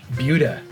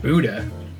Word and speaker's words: Buda: Buda. It's spelled Buddha, but everybody kept reminding me, they're like, it's not Buddha. It's not like the praying guy.